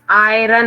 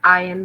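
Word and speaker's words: iron: Moving आयन instruments, आयरन नहीं आयन बोलते हैं उसको, आर साइलेंट होता है।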